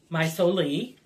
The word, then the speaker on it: Mai Soli: me her name is maisoli and as anybody uh does any research um maisoli and that's how it's pronounced of course without the italian accent um what my solely